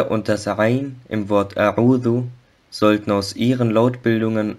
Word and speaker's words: أعوذ: Das Wort A'udhu sollte nicht wie Auzu ausgesprochen werden, also A'udhu, A'udhu und nicht Auzu.